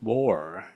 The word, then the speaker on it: boar: So it happens to be that there was a wild boar. Wild boar. B-O-A-R. Boar. Very tricky to pronounce this word. It's not bored, but boar, right?